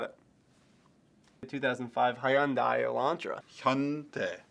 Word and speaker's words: Hyundai: that I've like in 2005 I Sam it's pronounced Hyundai you got it it's a crane words got a tongue that two syllables got it the 2005 Hyundai Elantra Hyundai Hyundai so the reason I didn't want to unlock